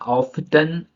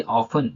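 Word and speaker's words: often: अब यहाँ ऑफ्टन ना पढ़ के हम पढ़ेंगे ऑफन, जो कि टी साइलेंट है।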